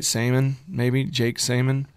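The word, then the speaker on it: Seamon: Jake Salmon? Salmon, like the color of the bass. Kind of like the color of the bass, yeah. Samon.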